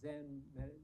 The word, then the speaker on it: Zen: comes that word is pronounced comes to be pronounced as Zen meditation in in Japan this is a form